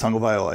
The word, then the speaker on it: Tagovailoa: It's Tua Tagovailoa. Hey, there he is. Is that how you say it? That's Tagovailoa.